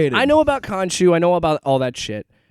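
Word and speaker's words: Khonshu: so you've got to explain uh I can't pronounce the name Konshu you got to introduce them you got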